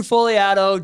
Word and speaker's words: Fogliato: So Fogliato, G is silent, by the way, Just Sell Homes, and now REM.